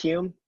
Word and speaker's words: Hulme: It is Hume, though. It's pronounced Hume? Yeah. Okay. You don't even pronounce the L.